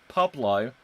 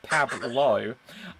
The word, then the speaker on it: Pablo: Pablo, which is pronounced Pablo, not Pablo, says, toss-up between Hawa and Asad.